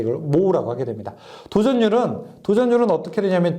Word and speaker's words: mho: 이걸 읽을 때는 그래서 모라고 있습니다. 모. 왜냐하면은 옴이요. OHM이거든요. 이거 거꾸로 읽게 되면요. MHO잖아요. 그렇죠? 그래서 읽을 때 이걸 모라고 하게 됩니다.